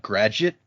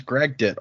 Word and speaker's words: Gragdet: I think in my brain I've always pronounced that Gragget, as if the D and the G had switched places. But yeah, it says Gragdet, all right. Yeah, it's like Dragnet, but Gragdet.